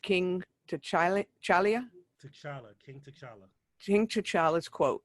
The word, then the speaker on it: T'Challa: I never pronounce it right. King T'Challa. T'Challa, King T'Challa.